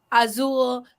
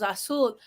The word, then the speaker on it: azul: I would say zapatos, azul, but it's actually zapatos, azul, because the Z sounds more like an S in Spanish.